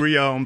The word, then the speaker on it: Reaume: name right right yeah it's actually Rion but uh my whole family we grew up as uh kids in Sam know and everybody called us and it's a little